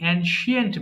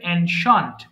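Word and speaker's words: ancient: অ্যানশান্ট পুরাতন, কিন্তু এটাকে আমরা বেশিরভাগ কি বলি, অ্যানশিয়েন্ট বলি, বাট উচ্চারণটা হবে অ্যানশান্ট, পুরাতন, মডার্ন, আধুনিক।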